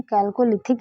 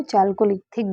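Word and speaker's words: Chalcolithic: ठीक, इसको इंग्लिश में क्या कहते हैं, कैल्कोलिथिक या चाल्कोलिथिक भी कहते हैं, क्योंकि स्पेलिंग जो है CH से स्टार्ट होती है।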